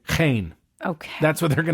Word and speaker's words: Jaén: But DNA tests showed that Mencía is genetically identical to the Portuguese grape name Jaén, which looks like Jane, Jean, but it's Jaén.